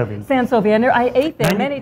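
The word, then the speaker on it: Sent Sovi: Now, how long were you at San Jovi? Am I pronouncing it? Sensovi.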